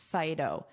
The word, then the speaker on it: phyto: And notice that pronunciation, phyto, like phone, but this is a I, phyto.